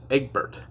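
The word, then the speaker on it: Egbert: as it flies away but you pronounce it egg bert it's egg birch is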